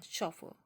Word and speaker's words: chauffeur: means a private driver so what is the pronunciation of this word ch au double f EU 1 shuffle I don't have any